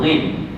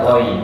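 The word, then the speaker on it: غين: Ha tengok nama dia tu ghin. Kita sebut ghin. Ejaan dalam bahasa Arab ni ialah ghain. Al-ghain. Ghain. Eh nama dia ghain.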